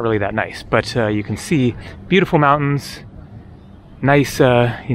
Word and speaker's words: Cairns: so to speak of can here or cans I keep a confusing Cairns Australia with can France both of which are not pronounced the way that they seem like they should be so there you can